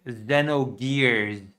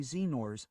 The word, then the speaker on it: Xenogears: Xenogears. spiritual successor to the legendary Xenors came in.